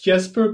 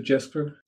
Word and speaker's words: Jesper: It's Jesper, but I also respond to Jesper.